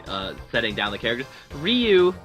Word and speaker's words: Ryu: setting down the characters Ryu they got his name wrong they called him rayu the whole movie which is a little